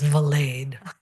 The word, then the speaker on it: Valade: to correct something though my last name is pronounced valade ah my apologies no